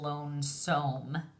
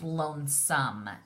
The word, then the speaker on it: lonesome: the magic II but some is a sight word and we do not pronounce it with the long o sound it's not lonesome its lonesome and since we don't